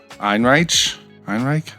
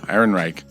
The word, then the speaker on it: Ehrenreich: Einreich. There's an extra R in there. Ehrenreich.